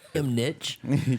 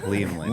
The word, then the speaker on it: Liam Lynch: Liam Nitch? His name's Liam Nitch? I mispronounced the. What's his real name? Lynch? It's Liam Lynch. Oh, okay. Liam Lynch.